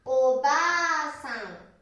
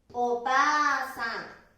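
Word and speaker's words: おばあさん: 発音はおばあさん。おばあさん。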